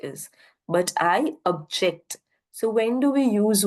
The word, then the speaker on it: object: I am present right this is the object and this is to object that right we need to understand object will be or will be given a rather more prominence whereas J will be given the lower prominence so that is what